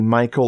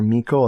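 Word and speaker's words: Meikle: fear by dennis michael i say michael weird because it could be michael or mikkel it's m-e-i-k-l-e i like this book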